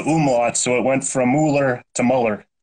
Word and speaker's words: Muller: I get the Muller because people look at the U and then they just pronounce the letter U. So they're like, oh, it's got a U in it. So it's Muller.